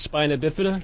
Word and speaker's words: spina bifida: I was born with spina bifida. A lot of people don't know what that is. It's pronounced spina bifida.